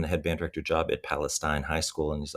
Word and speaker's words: Palestine: I it was the headband director at what I thought was Palestine High School. It was obviously Palestine is how you say it, but I didn't know that.